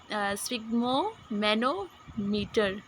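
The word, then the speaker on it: sphygmomanometer: तो स्पिग्मो मैनोमीटर तो प्रोनाउंसिएशन इसकी, एक मिनट, स्पिग्मो मैनोमीटर।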